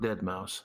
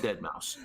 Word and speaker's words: Deadmau5: I'm not pronouncing that 5 like it's not an S. It's an S. The man's calling himself Deadmau5.